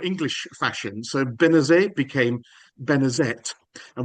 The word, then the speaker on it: Benezet: So Benezet became Benezette and we know that he pronounced the T at the end of his name in later life because sometimes he spells